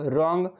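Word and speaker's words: wrong: रॉन्ग, रॉन्ग में W silent होता है, और ऑनर, ऑनर में एच साइलेंट होता है।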